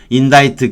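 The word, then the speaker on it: indict: 인다이트, 기소하다인데 디케레가 say, 말하다예요. T를 쓴 거, 인다이트하고 동임 이유예요. 인다이트 같은 발음이고요.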